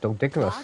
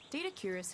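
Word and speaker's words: Doedicurus: I've been pronouncing that long the entire time. I've been calling it Dodicarus.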